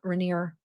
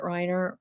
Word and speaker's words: Reiner: A lifelong family friend who lives near the Reneer Riner home.